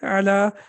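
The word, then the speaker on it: على: When we read it separately, we say ala. But when we connect it with al, then it will be alal maktabi, then it will not be pronounced.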